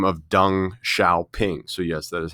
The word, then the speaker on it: Deng Xiaoping: 17 years, a man by the name of Deng Xiaoping. So yes, that is how you pronounce that name there that you see at the top of the slide, Deng Xiaoping.